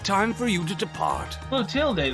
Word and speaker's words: Clotilde: Clotilde, that's how you say her name, Yes, I'll be stepping out for a while.